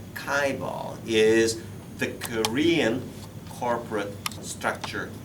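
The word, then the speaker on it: chaebol: it's nasty english word this word is properly pronounced as kaibal kaibal is the korean corporate structure system kaivo okay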